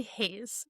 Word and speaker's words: Hazze: I want to talk about has sports though. Am I pronouncing that correctly? Has it's actually Hayes.